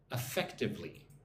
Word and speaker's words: effectively: Affect-ive-ly, 4 syllables. Put the emphasis on the second syllable. 1, 2, fect, effectively.